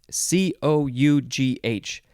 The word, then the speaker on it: cough: next word is cough c-o-u-g-h this is why people don't like english because there are words like this that don't they're not pronounced how you think that they should be pronounced there was a whole